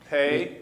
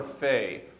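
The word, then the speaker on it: פ: We do need to say that the pay has the two different sounds, though. And that can be a pay. Well, I'll mention it in brief. Pay or fay. And so when you're reading Hebrew, sometimes that pay or fay will have a dot in the middle of it. If that dot's there, you use the harder sound, the p, instead of the f.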